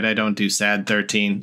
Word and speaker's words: Sad13: And they sort of stylized their name in leet speak, but it's pronounced Brainiac. So following that, my band name should just be Sadie. But no, it is Sad 13, which to me was just sort of a